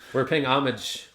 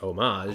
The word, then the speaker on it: Homage: They have a beer called Homage, even though it's pronounced homage. Homage. And so when they first opened, we kept ordering homage. And one time they were like, oh, it's homage.